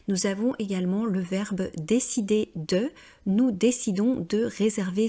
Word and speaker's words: décider: C'est bien le son et, continuer, décider, et non pas décidaire ou continuaire comme je l'entends fréquemment parce que les personnes ont tendance à vouloir prononcer toutes les lettres à l'anglo-saxonne.